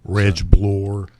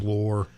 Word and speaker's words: Reglore: a good uh explanation how to like blore as in floor, but it's with a B.